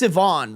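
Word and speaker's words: Siobhan: It's pronounced Sivan, right?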